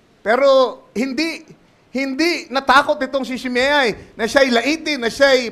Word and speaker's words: Shimei: Kung bigkasin ng iba yan, Shimei, pero ang tamang bigkas yan, Shimei.